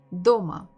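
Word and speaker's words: дома: forget to repeat DOMA so have two syllables do and Ma which one has been stressed DOMA so if you feel a bit difficult with stresses uh you can just look at me look what I do how I say and look at my fist DOMA DOMA DOMA so I would always stress a little bit faster and stronger my fist the stressed syllable DOMA so the first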